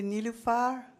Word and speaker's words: Nilufar: It's actually Nilufar, but since no one can pronounce it, I shortened it to Nilu.